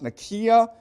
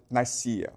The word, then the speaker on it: Nicaea: Okay, it's properly pronounced Nicaea, but most people pronounce it Nicaea.